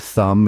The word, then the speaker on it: thumb: from start to finish now let's talk about the silent bees yes they exist be can sometimes be the Silent Partner contributing to the word without making a sound you'll find silent bees in words like doubt subtle and thumb it's like a secret